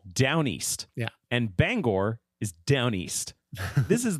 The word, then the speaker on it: Bangor: It's an O.